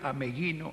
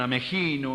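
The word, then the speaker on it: Ameghino: mundo lo que fue ameguino en su época y hasta la época de nuestra juventud decir a meguino era sacarse el sombrero hoy algunos lo pronuncian a mejino a mellino Se ha perdido hasta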